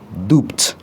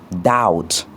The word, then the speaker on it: doubt: On ne dit pas dop mais on dit doubt pour dire le doute.